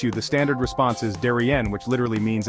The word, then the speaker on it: de rien: When someone thanks you, the standard response is de rien, which literally means it's nothing. De is pronounced like duh, and rien rhymes with bien.